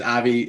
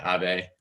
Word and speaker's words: Avi: cool um yeah uh my name is avi if it's easier you can just pronounce it ave um very close i see a few